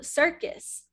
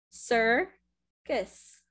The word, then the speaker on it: circus: So circus, circus. It almost sounds like kiss at the end.